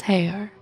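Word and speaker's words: Haigha: His name is Hare. He pronounced it so as to rhyme with mare.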